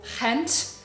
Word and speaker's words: Gent: went from Amsterdam to hent it's spelled like gent but it's pronounced hent it's in the Dutch